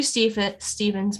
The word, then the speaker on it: Stephen: Yes, 2 Stevens. Mine's pronounced like Steven.